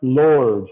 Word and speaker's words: Lourdes: I said notice but it's pronounced Lourdes like the Lord's okay yes sir he's